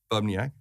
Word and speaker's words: Bubniak: Dan Bubniak, right?